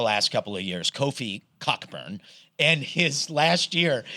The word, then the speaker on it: Cockburn: There was a kid, a really good basketball player at Illinois the last couple of years, Kofi Cockburn. And his last year, he changed the pronunciation to Coburn.